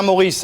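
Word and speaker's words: Morisse: c'est lui c'est Lucien Maurice hein c'est comme les deux prénoms sauf que ça s'écrit pas comme Maurice m o r i de s e c'était évidemment le le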